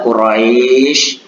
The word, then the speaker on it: Quraisy: Cara membacanya itu Quraisy terdengar seperti bunyi i, bukan terdengar seperti bunyi e.